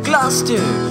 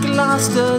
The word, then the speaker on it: Gloucester: Gloucester is not pronounced Gloucester. Don't drop your R in the word Gloucester.